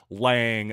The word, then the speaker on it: Lange: yes it is pronounced Lang ladies and gentlemen don't let the silent e at the end fool you that's firsthand information by the way from the young man himself Jack Lang so no controversy there